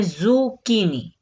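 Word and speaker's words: zucchini: सीएच जो है ये तो चे की आवाज निकालता है, लेकिन यहाँ पे इसने प्रोनाउंसिएशन जो देनी है वो करनी है ज़ुकीनी, ठीक है, ज़ुकीनी, काली तोरी।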